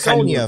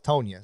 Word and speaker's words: Tonya: So I thought it was Sonya for a while. And then I looked it up. I was like, oh, it's Tonya.